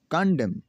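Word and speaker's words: condemn: है वो ये है, अगर किसी लफ्ज़ में एम के बाद एन आता है तो एन हमेशा साइलेंट हो जाता है।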